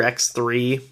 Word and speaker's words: Xrd: game and that's why it's called xrd um it's basically like third like the Rd from third um kind of a little bit of a joke there um so I don't really know the right way to say it um